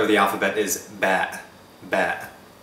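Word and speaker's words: باء: the alphabet is ba ba ba is pronounced like the letter b in english it's a bilabial voiced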